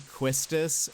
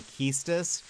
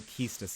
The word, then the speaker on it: Quistis: I grew up saying Quistis. Apparently that's not correct. People say Keistis.